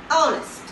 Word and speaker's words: honest: For example, okay, honest. Honest. Its beginning letter is a consonant. As we all know, H is a consonant. But this word gives a vowel sound, right?